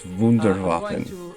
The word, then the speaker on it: Wunderwaffen: You're not even saying it right. It's Wunderwaffen.